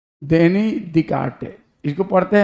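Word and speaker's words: Descartes: उसके बाद सी ए आर ई ई रेनी दिकारटे इसको पढ़ते हैं दिसटे नहीं पढ़ते हैं रेनी दिकटे पढ़ते हैं अब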